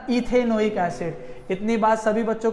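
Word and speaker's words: ethanoic acid: को कट कर दो, E को कट करेगी तो क्या आ जाएगा, ईथेन ओइक एसिड, तो इसका प्रोनाउंसिएशन आ जाएगा इथेनोइक एसिड।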